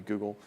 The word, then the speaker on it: Google: That would be Google. Am I allowed to say that? No, in my household, I made my kids say rhymes with bugle.